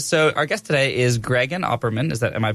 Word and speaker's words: Gregan Opperman: And so our guest today is Gregan Opperman. Am I pronouncing it correctly? Sure, that is yes, sir, that is Gregan Opperman.